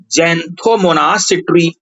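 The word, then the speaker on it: Xanthomonas citri: ये जो बैक्टीरिया होता है बेटा मेरे, बाय बैक्टीरिया, और इस बैक्टीरिया का नाम होता है ज़ैंथोमोनास सिट्री। एक्स से स्पेलिंग स्टार्ट होती है।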